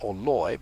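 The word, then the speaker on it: Orloj: the astronomical Clock Tower known as the or pronounced oroy by the local checks is comprised of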